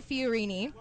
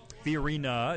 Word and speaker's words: Fiorina: in the primary against Carly Fiorini fiorina it took me several months to learn how to say it that's okay oh my